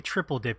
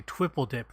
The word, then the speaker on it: Twipple Dip: I almost said it wrong. It is not a triple dip, it's a twipple dip.